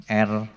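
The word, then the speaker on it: ἔρχομαι: Ini bacanya erchomai.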